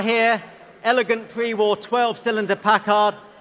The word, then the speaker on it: Packard: elegant pre-war 12 cylinder Packard or Packard as we should be pronouncing it considered by many enthusiasts